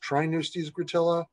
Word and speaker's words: Tripneustes gratilla: Sure, the scientific name is Tripneustes gratilla, sometimes pronounced Trineustes gratilla, and the Hawaiian name is Hawa'e Ma'ole.